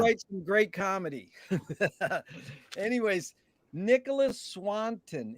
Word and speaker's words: Nicholas Swanton: Anyways, Nicholas Swanton. Is that the correct way to pronounce it? Yeah, yes, it is.